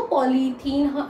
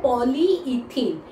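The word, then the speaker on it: polyethene: जो पॉलीथीन जो मतलब हम लोग प्लास्टिक की थैली यूज करते हैं उसको हम लोग पॉलीथीन पॉलीथीन पॉलीथीन कहते हैं, लेकिन असल में वो प्रोनाउंस होता है पॉलीइथीन।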